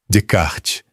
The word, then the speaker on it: Descartes: Descartes. Descartes. O S do meio é mudo, a consoante final soa, o E final não.